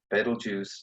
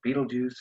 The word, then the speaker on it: Betelgeuse: the sky and that's the star Betelgeuse or Betelgeuse or fatal geese depending on how you want to pronounce it that is the star